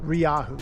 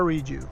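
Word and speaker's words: Rieju: Ryahu. You should hear the way he calls it. How does he pronounce it? It's not a Reju.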